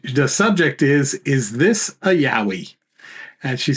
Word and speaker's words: Yowie: And she said, Yo, we. And she says, kind of like Stallone saying, yo, Adrian.